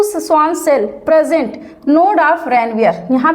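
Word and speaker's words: Ranvier: Node of रनवियर। रनवीर मत सोचिएगा। क्या लिखा है? रेनवीयर।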